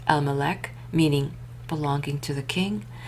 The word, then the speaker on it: LMLK: of interest were the objects bearing L MLK stamp lamemed mem lamemed commonly pronounced Elmc meaning belonging to the king.